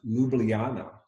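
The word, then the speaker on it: Ljubljana: it's actually more like a y so it's pronounced Luana sounds much prettier huh that's pretty I want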